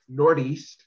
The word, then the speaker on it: Northeast: Northeast in Minneapolis is called Nordeast. Nordeast. Because we are in the up Nord. Right. You never pronounce the TH.